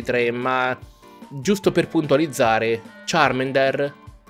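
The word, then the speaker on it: Charmander: ma giusto per puntualizzare charm ender non si pronuncia charm under come dicono nel doppiaggio nuovo dell'anno si pronuncia sharman der infatti solo me viene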